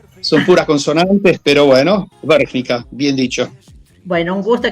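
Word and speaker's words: Vrhnika: en el año 2021 y actualmente vive en Bergnica. ¿Es así, Francisco? Muy buenas tardes. Muy buenas tardes a vos y a todos los escuchas. Es así, muy bien pronunciado. Son puras consonantes, pero bueno, Bergnica, bien dicho.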